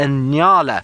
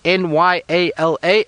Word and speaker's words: Nyala: Now that antelope is called a Nyala. So if you want to remember its name, just think of New York and LA, Nyala, and that's how you spell it, and it's called Nyala.